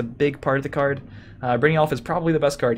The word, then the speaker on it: Brynjolf: Brynjolf? Yolf. Oh, soft. Yolf. Damn it. I was like, let's just call it a Jolf because I don't... Alright, it's a Yolf. Alright, so Brynjolf. Or Brynjolf? Brynjolf? Brynjolf.